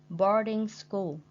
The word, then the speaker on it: boarding: And we put the stress on the first syllable, primary.